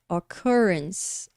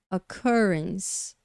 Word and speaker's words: occurrences: essa da trabalhinho né occurrences occurrences Então olha aqui o a transcrição fonética dela a pronúncia é occurrences occurrences uma segunda sílaba pronunciada mais forte e a gente consegue